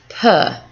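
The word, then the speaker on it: peux: them cousins so je pa it's very much like java but just the p the instead of the v it's a p so two is also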